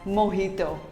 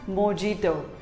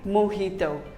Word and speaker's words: mojito: it is pronounced as mohito not mojito simply say mohito the j is pronounced as h to what do you